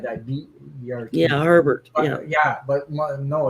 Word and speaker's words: Hebert: was your maiden name herbert herbert herbert or a bear it probably was yeah yeah hey bear that would be pronounced a bear down here yeah see my maiden